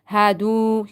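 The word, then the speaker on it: هَادُوا: Amanu, walladhina, hadu. You see? Not hadu. Not hadu. Hadu, you have to stretch it according to one alif because there is wow is silent and before that there is zamma.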